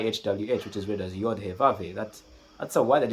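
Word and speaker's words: Yahweh: the tetrogrammaton y hw, which is read as yave." That's that's a word that is not pronounced in Hebrew.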